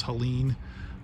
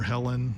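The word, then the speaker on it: Helene: I believe it was Helen or Helen depending on how you pronounce it um this kept out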